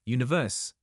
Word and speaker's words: One Verse: While many leverage their fame to promote albums, merch, and endorsements, Yoo Luk and Kim Seok, members of breakout group One Verse, pronounced Universe, have a different vision, one that is deeply personal.